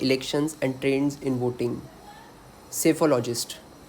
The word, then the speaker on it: psephologist: Psephologist. P is silent over here. Psephologist.